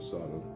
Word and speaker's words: Sidon: it's pronounced, near the city of Sidon, or Sodom, I think it's pronounced Sidon.